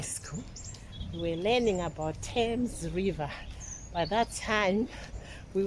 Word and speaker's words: Thames: that time we were the teacher was calling it fam even the time I came here first time I used to call it f then people they'll be laughing say we don't call it f it's t guys but the spelling is